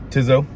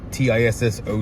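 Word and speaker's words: Tissot: Um I love uh Tiso or Tiso. It's T I S O T. The T is silent.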